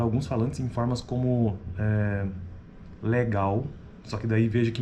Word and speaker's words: legal: Então, outro exemplo, a palavra legal, a mesma coisa. A acentuação, a tônica dessa palavra está na segunda sílaba, né?